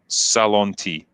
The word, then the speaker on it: Salonti: It's pronounced Salonti. All right. I like how you helped me at the end of your super chat after I mangled your name. But yeah, Salonti, thank you.